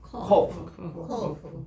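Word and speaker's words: קוף: 여기가 요거부터 쓰고 이렇게 내리는 것인데 이게 이제 코프인데 영어에서는 이거를 Q 발음이에요. 코프. 따라합시다. 코프.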